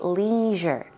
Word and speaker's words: leisure: In American language, you would say leisure. Leisure activities. In British English, you would most likely hear leisure. Leisure.